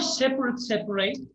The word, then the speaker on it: separate: Do you know separate?